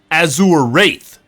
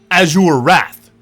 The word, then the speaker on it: Azure Wrath: Azure Wrath. Azure Wraith. Azure Wraith. There's no I. Azure Wrath.